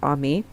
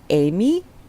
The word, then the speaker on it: Aimee: Like when I was in school, I don't think it's anybody's secret that my name is pronounced Ami, Dragonaimee. My professor tried to go Amy, and I'm like, no.